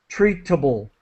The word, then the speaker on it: treatable: to pronounce this correctly it's not like the word table we we don't pronounce it that way we use the natural lazy easy English pronunciation of treatable tble like halfway between it and get treatable treatable okay okay all right